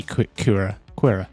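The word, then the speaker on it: Qi'ra: I've also been doing that because we do see Kira. Yeah, that's how you pronounce her name.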